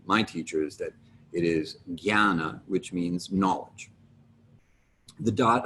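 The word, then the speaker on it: jñāna: j you might have expected that to be pronounced gianna as opposed to jana the pronunciation may vary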